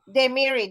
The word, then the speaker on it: Dehmiri: So it's Dehmiri. The Z is pronounced actually.